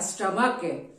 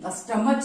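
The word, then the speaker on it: stomach: आप विशेष ध्यान दीजिएगा सी एच है लेकिन उच्चारण जो है क आ रहा है स्टमक ट्स वाई यहां पर आप एस को लगाएंगे मोनार्क सीच है लेकिन उच्चारण क्या आ रहा है क का आ रहा है ट्स वाई यहां पर आप एस को लगाएंगे मोनार्क क मोनार्क नहीं स्टमच नहीं बोलेंगे आप स्टमक हम लोग बोलते हैं मोनार नहीं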